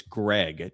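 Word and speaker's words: Graig: Greg Cow and Greg is spelled G R A I G. So it's not Craig, it's Greg Cow.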